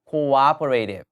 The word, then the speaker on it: cooperative: 자, 발음 한번 따라갑니다. cooperative. 그렇죠? cooperative 하지 마세요. cooperative 하셔야 반드시 협력적인이라는 표현이 되고요.